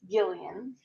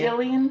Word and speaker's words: Gillian: And found that it is indeed Gillian. Why though? But why? It is Gillian Flynn.